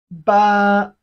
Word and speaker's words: 八: Ba. Repeat after me. Ba. It has the flat tone of Chinese language, the flat tone. Ba.